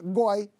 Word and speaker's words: G0Y: Goi é o cara que curte uma masturbação entre amigos. Até um sexo oral, mas sem viadagem, tá? Goi se escreve assim, G-0-Y.